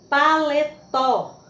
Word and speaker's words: paletó: Outro exemplo, paletó. Última sílaba, sílaba tônica, mais forte.